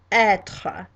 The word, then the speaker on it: être: And in French it's pronounced être.